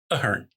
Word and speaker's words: Ahearn: Ahearn. As like this is a hymn. Like a hem. Ahem.